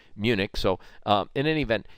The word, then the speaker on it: Munich: past we call it munin we it's spelled munin but we call it Munich so um in any